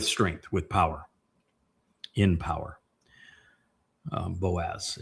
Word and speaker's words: Boaz: Boaz. It's actually Baaz, or Baoz would be the proper pronunciation if you were to look at the component parts.